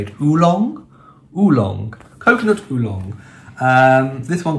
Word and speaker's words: oolong: Oolong?